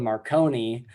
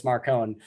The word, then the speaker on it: Marcone: So like at first Marsters is calling Marcone Marconi, and then Yeah. Jim Butcher sits him down. He's like, no, it's Marcone.